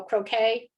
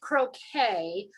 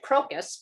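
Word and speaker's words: croquis: think they pronounce it croquet i would have probably pronounced it crocus because that's the way it's spelled c-r-o okay q-u-i-s and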